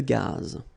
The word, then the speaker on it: gaz: Final not pronounced here. Une conduite de gaz.